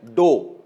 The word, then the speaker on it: ∂: डो जैसे आटा नहीं प्रोनाउंस करते हम लोग, गुदा हुआ आटा, डो, तो प्रोनाउंसिएशन वैसे ही है, लिखने में वैसा नहीं है, प्रोनाउंसिएशन वैसे ही है, डो।